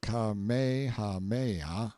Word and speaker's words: Kamehameha: When Kamehameha, pronounced Kamehameha, the Great, who was a sort of a